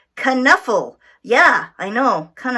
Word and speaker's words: Knuffle: we go okay good kind enough Abunimah this up actually you do pronounce the K mm-hmm it's not a silent K it's not a tricky K it's a out loud K kind enough oh yeah I know